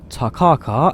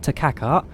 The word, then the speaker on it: Takaka: new zealand video and flying from nelson to takaka as i now am told it's pronounced not to kaka to car cart so again apologies to